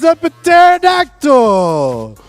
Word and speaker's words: pterodactyl: your favorite dinosaur is epiterodactyl you have chosen wrong i the p is silent he's telling me the